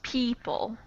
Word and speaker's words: people: have the e beat people oh beat people listen yeah listen here and it's this is a tricky one because people has a totally strange o in it that we don't